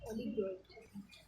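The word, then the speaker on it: oligarchy: अगर few peoples करेंगे तो एरिस्टोक्रेसी, और इसको ओलिगार्की, ओलिगार्की, ओलिगार्की इसको ऐसे प्रोनाउंस करेंगे, ओलिगार्की।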